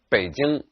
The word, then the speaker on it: Beijing: popularized many years ago the city's name is pronounced Baden and it should be spelled in english with